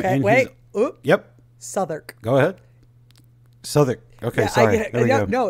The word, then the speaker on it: Southwark: yep sther go ahead Souther okay sorry no it's really stupid that's the burough I live in s it's a silent UW okay okay Souther I just I need